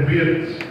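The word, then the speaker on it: בית: Aí, é claro, não tem acento, no português seria Bet, né? Mas é a pronúncia mais próxima. Eu não sou o melhor dos hebreus, mas a pronúncia mais correta é Bet, né?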